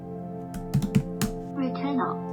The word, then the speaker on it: Returnal: I'm hoping for Returnal. Did I pronounce that right? Returnal. Hold on. Returnal.